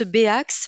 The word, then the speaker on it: Béax: d'ailleurs que voilà, on prononce BAX, mais ça s'écrit Ah, bien.